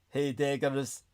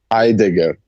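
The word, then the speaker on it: Heidegger: On the other hand, Hagger's concept of Mitsin, is that that correct there, Brendan? And I am Am I even pronouncing the philosopher's name correctly? Martin Hagger. Hideigger. Hideigger.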